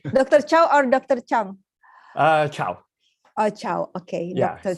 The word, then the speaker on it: Cho: Chow. Oh, Chow. Okay, Yeah, Dr. C-H-O. Chow. Chow, Chow.